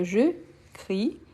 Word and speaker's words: crie: le ver CR donc je crie donc le E on ne prononce pas mais le i bien fort donc je CR juste